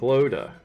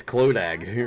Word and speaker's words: Cloda: Cloda. That's how you say her name. I never could figure out what her name was in the original one. It was Cloda. Cloda. Everybody thought it was Clodag or something.